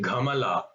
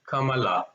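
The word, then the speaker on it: कमल: You should not say ghamala, which is not right. It's kamala, right?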